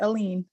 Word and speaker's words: Elen: Mesa Arizona okay thank you Ashley hi elen is that how you said why don't you tell us how you say your name that is how you say it elen thank you oh wonderful